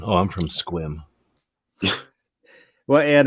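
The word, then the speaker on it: Sequim: had to go around saying oh I'm from squim well and it's spelled sequum but pronounced squim yeah I remember as a kid in grade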